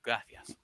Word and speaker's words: gracias: that's pronounced because uh I was taught to pronounce it uh gracias with the softest s possible uh in the middle.